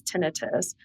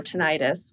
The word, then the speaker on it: tinnitus: or or exists with this tenitus or tonitis which I've learned you can pronounce it both ways.